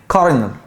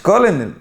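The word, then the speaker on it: colonel: قلت الكولونل صح لا كنل بص في صوت ار كده غريبه كارنل كارنل دي رتبه في الجيش يعني عقيد كارنل ها مش كولنل اوعى انت حر الكلمه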